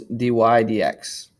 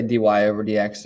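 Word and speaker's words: dy/dx: is pronounced y prime and the way we pronounce this is d y d x you could say d y over d x but generally i just say d y d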